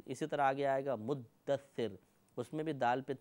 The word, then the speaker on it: مدثر: تشدید ختم کر دیتے ہیں، یہ غلط ہے، مدثر۔ اگر یہ ادائیگی میں دقت پیدا ہو تو